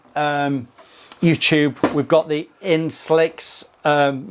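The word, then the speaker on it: Insl-X: We've got the Inslicks um Max pronounce it in slicks in slicks.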